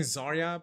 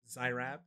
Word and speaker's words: Zaryab: I used to say, was it, instead of saying Zaryab, I said Zyrab.